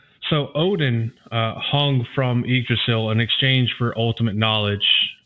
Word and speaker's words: Yggdrasil: So to go back and correct my pronunciation, it is Yggdrasil.